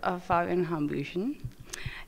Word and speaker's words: Hambüchen: So we're here with Fabian Hambüchen. And you pronounce it right.